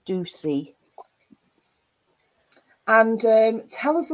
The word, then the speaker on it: Ducie: the lovely now how am I pronouncing your surname shall I let you introduce yourself properly okay thanks Sam hello everyone I'm Ducey and um tell us